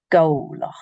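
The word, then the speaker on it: Gobhlach: Again, because in the middle of the word it's W. Golach.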